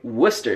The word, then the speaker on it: Worcestershire: But what I find interesting about the word Worcestershire is that in the UK, they don't even say all the syllables in this. They just say Worcester sauce.